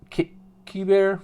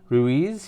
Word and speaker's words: Ruiz: but there's a miscellaneous rookie Ruiz Ki bear excuse me mispronounced that Ruiz here's a miscellaneous Rookie